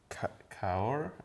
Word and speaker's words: Cahors: It's from Argentina, but I think Malbec came from Cahors, I think is how it's pronounced, which I believe is in Burgundy.